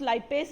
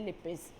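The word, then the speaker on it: lipase: Teacher can pronounce लाइपेज also और लिपेज also. आई से generally लिपिस।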